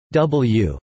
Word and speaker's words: DeBlieux: the liberal state senator j d diblio pronounced w of baton rouge and